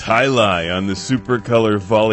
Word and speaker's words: jai alai: say it I oh yeah it's highi on the supercolor Vol X anyone feel like